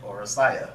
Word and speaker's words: Oresteia: That's how you say it, Oresteia.